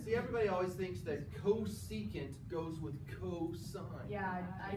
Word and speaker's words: cosecant: CSC, pronounced cosecant.